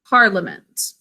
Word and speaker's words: parliament: this one parliament because there is a silent syllable in this word a whole syllable that's silent we think of it as partly a mint but we say parliament can you say that things